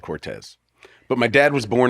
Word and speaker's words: Cortese: out of respect to my dad I'm gonna pronounce it Cortez you know and I had a conversation with